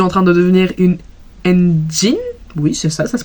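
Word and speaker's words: ENGENE: J'aimerais bien me renseigner beaucoup plus sur Enhypen parce que je suis en train de devenir une engine. Oui, c'est ça, ça se prononce comme ça.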